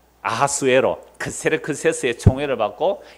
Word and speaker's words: 아하수에로: 아하수에로. 아하수에로 무슨 발음이고요? 히브리식 발음이고 크세르크세스는 헬라식 발음이에요.